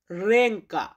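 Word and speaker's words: ręka: এটার পলিশ উচ্চারণ হবে রেংকা।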